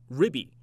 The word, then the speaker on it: RBI: RIB. 그러니까 RIB를 스펠링을 알려드리자면은 RIBBY인데요. 이게 뭐 사실 맞는 스펠링인지는 잘 모르는 게 재밌게 RBI를 그냥 읽어버리는 거예요. 그러니까 RBI를 봤을 때는 그냥 쫙 읽어버리면은 RIB이라고 들리기 때문에 가끔씩 캐스터들이 재밌게 다양하게